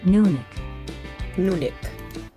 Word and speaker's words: Nunik: Welcome to Pronouncing Names 101. Let's learn how to say names correctly in just a few Nunik.